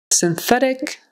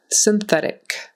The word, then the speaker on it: synthetic: D on the end synthetic synthetic so that y the S YN is pronounced as if it were si in so it's sin and then the th